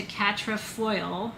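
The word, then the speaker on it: quatrefoil: like a four-leaf clover it's called catra cat in french which means for and foil which comes from the french word foyer void it's a hard word to describe to pronounce f-e-u-i-l-l-e catra for leaf we anglicized it in our language to catra foil foil is the anglicizing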